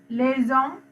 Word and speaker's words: les hommes: Then plural part les hommes. S එක pronounce කරාට H එක pronounce කරන්නේ නැහැ. Les hommes.